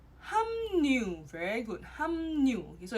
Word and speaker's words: 합류: 합류. 합류 is pronounced as 함류.